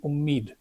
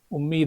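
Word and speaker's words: UMEED: have heard the Acron umid so the W is silent but if you see u m e e d umed Act so we can also call this amendment as the umid that the updated name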